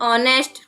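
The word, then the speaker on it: honest: इसी तरह से वर्ड होते हैं जैसे ऑनेस्ट। तो ऑनेस्ट की जो स्पेलिंग है वो भी एच से स्टार्ट होती है, बट जो एच है वो साइलेंट होता है, इसलिए एच के बाद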